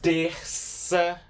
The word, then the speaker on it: terça-feira: And it's always going to make a S sound when you pronounce it. So there's no shadow of a doubt. You're just gonna still pronounce it like a letter S.